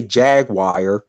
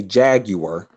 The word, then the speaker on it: jaguar: me to say oh don't say jagwire say jaguar yeah over here he